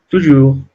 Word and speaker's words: toujours: Toujours. Las S finales no se pronuncian.